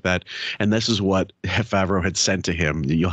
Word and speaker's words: Favreau: Why does he say Favreau? I know. He adds that syllable.